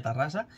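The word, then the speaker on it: Terrassa: Cuidado con esta, Cuidado con esta, y es que el ayuntamiento de Tarrasa, por cierto, mal escrito, que Tarrasa se escribe con E, es Terrasa, pero se pronuncia Tarrasa, estudia poner una calle a Akira Toriyama.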